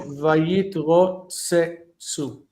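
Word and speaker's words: ויתרצצו: it's a silent shava, if you have two of the same letter sounds, then you have to pronounce the shva. So vayitro tsu. It has to be vocal. Otherwise, it sounds like there's just one.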